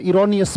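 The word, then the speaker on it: erroneous: Wrong, इरोनियस, ये बड़ा प्यारा वर्ड है, इसका मतलब है इरोनियस पढ़ा जाएगा इसको। उच्चारण में यहां पे लिख देता हूं, इरोनियस, इरोनियस मतलब गलतियों से भरा हुआ।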